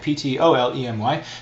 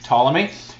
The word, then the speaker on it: Ptolemy: Some people say the P, some people don't. You pick, I don't care, just spell it right, Ptolemy, Ptolemy.